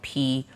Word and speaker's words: Pryzm: Prison and Prism sound exactly the same, and they're spelled completely different. So this nightclub is spelled Pryzm, to be edgy.